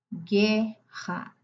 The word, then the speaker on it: guerra: Guerra. Gu te ouve só dois sons nessa sílaba. Guerra.